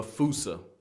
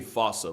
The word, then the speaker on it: fossa: with its spelling, I'm pretty sure it's actually fossa, but the day I pronounce it like that is the day I lay my childhood to rest.